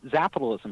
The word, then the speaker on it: Zapitalism: You got Zapitalism right, which I was impressed because some people pronounce it Zapitalism. And I know it's not. No. It's like capitalism with a Z.